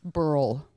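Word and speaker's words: Beryl: Burl.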